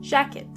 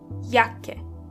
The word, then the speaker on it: Jacke: Jacke is jacket. And this is where you can see that the letter J is pronounced as Y. Jacke. When you see a C and K together, they are pronounced as K.